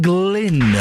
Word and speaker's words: Glynn: Adam Glynn with a hard G.